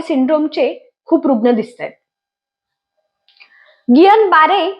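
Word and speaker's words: Guillain-Barré: पुण्यामध्ये सध्या गियन बारे सिंड्रोमचे खूप रुग्ण दिसतात गियन बारे ही फ्रेंच नाव असल्यामुळे त्याच्या स्पेलिंग मध्ये आणि उच्चारामध्ये फरक आहे तर काय आहे हा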